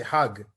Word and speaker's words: Hajj: They were going to Saudi Arabia, to Mecca, and doing the Hajj. And he actually explained that the Egyptian pronunciation of the J sound, it's not really, they don't say Hajj, they say Hag.